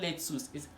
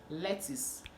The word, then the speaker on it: lettuce: so another one is le tus le tous it's not let's use it let's obviously this lettuce please can i get lettuce from the market please kind of get rid of the lettuce so that's the way you pronounce it i'm not lettuce when